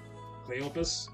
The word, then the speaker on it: Cleophas: I've heard Cleopas and I've heard Cleophas, because the English pronunciation of PH is sound, and I think something tells me that the Hebrew pronunciation of BH is a P sound, so, but anyway, I digress.